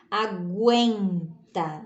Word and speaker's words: aguenta: Gain, porque aqui eu ouço um pouquinho ainda do som do U. Aguenta, né?